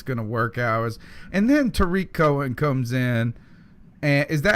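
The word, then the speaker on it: Tarik Cohen: saying how it's gonna work hours and then Tariq Cohen comes in and is that how you pronounce his name yes all right and now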